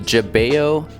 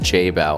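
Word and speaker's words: Jebao: We've got the Jabeo, I always say it wrong. I want to say Jabeo, but it's pronounced J-Bow, or at least that's how it's spelled.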